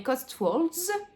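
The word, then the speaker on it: Cotswolds: Angleterre on n plus dans les cost walls pour le bien prononcer en anglais mais on est à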